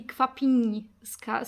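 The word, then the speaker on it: Kwapińska: but you say basically Kwapinska. So the N is like really soft, I would say.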